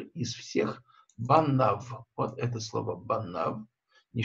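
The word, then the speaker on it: בָּנָיו: Дальше идет буква Юд, которая не читается, и буква Вав, которая читается В. Мы читаем не Банаив, а Банав.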